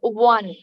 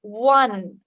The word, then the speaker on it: one: Pronunciation of one. On, no, one. One O-N-E, one. on. Yes, ma'am. Not on. One.